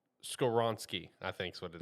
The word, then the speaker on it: Skoronski: Skoronsky, I think is what it is. Yeah, Yep. Skoron. Yep, Yeah, that Skoronski.